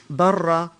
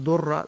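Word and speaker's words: ضرة: Now, obviously, the word in Arabic for second wife is darra, sometimes mispronounced durra, but it's actually a darra.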